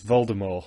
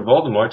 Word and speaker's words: Voldemort: it around with Lord Voldemort why does the tea become silent in that case I'm assuming it's her